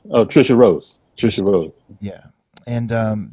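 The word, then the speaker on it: Tricia Rose: tracia is that how you say her name trisha rose trisha rhodes yeah and um that's the first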